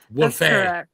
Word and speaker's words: Wolfe: The the E is silent, I guess, right? Yeah. Wolf.